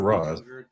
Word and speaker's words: Ra's: they can Is it Raish or Ra's? It's Raish, but it's like Raish al Ghul, like racial Ghul, like.